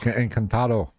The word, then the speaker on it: Encantado: You can pronounce it better than me. Está el encantado. Encantado.